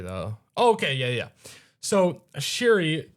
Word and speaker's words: Shuri: Cherie. Are we sure it's That's how you say it? Oh, Shuri.